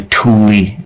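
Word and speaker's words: Thule: and the atlantans used to call themselves The Tulie uh the like T hu l e but pronounced t o o l i e that's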